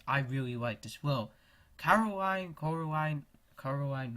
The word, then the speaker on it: Coraline: Coraline, right?